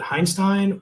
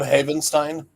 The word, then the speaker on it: Havenstein: The longtime veteran for the Ravens, what was it, Heinstein? Or I'm trying to remember how to say his name. Rob Havenstein.